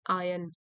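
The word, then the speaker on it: iron: Strike while the आयन इज हॉट, ये idiom है, आपको बताया था इसका प्रोनाउंसिएशन में आर साइलेंट है, आयन।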